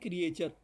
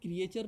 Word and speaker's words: creature: आप इसका उच्चारण कर रहे हैं क्रिएचर, है ना। जबकि आपको जान के आश्चर्य होगा, इसका उच्चारण क्रिएचर नहीं होता, इसका उच्चारण क्रीचर होता है।